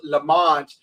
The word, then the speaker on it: Lamont: And actually, well, we're part of the Lamont clan. In England, they would pronounce it Lamont, but it's pronounced Lamont.